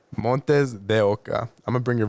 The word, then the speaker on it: MontesDeOca: You pronounced it all right. It's MontesDeOca. MontesDeOca.